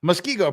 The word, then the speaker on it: Muskego: gee thanks for that Muskego pronounced like the fish Muskie and go thank you for these